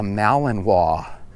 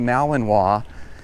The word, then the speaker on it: Malinois: If you're familiar with the Malinois, it kind of looks like Malinois if you were to look at the name of it. But I believe it's pronounced Malinois.